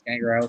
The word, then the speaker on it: Gangrel: I don't know why I was about to pronounce his name wrong. It's Gangrel School down in Florida.